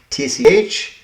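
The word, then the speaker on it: cwtch: Our starting word is cooch. I did look up the pronunciation of it. Ctch. It's a Welsh word and I think it means a nook or something of that nature.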